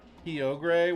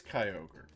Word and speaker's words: Kyogre: Kio was how you said it too before ever hearing it. Kogre. But surely it's Kyogre. It is an ogre.